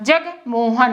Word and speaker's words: जगमोहन: अब देखो यहाँ जी में ए ना लगाना, जगमोहन ऐसे नाम लेते जगमोहन। यहाँ पर जो गा लग रहा है वो साइलेंट जैसे लग रहा ना, जगमोहन, जे जी मोहन।